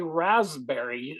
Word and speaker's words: raspberry: this word Ras raspberry I don't know why we can't say Rasberry but for some reason in English we'll say raspberry the P is for some reason silent um another example just